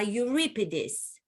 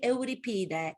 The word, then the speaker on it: Euripides: to play would be medea by euripides as the americans like to pronounce it medea by eurypida the ancient greek play